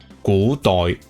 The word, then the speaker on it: Kurdois: While it may look like, and I have been pronouncing it like a French name, it is in fact a real word written in Nganmuzi, which is a romanization system made up by my friends for Cantonese, inspired by Old Chinese. How the word is actually pronounced is Kurdois, which means ancient.